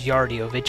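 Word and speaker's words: Yaridovich: fused into the next one of smithy's generals yardiovich i believe is how you pronounce his name the battle against him was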